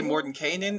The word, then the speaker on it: Mordenkainen: Mordenkainen. Some people say Mordenkainen as well.